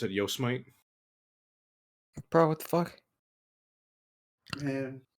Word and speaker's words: Yosemite: However, Bro, we fucked with Yosemite Sam? I'm not gonna lie, I was really tempted to pronounce it Yosemite.